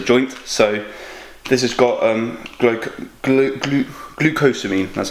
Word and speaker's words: glucosamine: Obviously, my shoulder is a joint, so this has got glucosamine, that's how you say it.